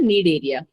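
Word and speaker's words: Cnidaria: Coelenterata यहाँ पढ़ोगे, बट यहाँ वाले में सी साइलेंट होता है। इसको हम कहते हैं नीड एरिया।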